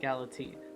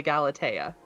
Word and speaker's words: Galatea: Right, Galatine. That looks so No. good, though. You pronounced it wrong. It's clearly the Galatea.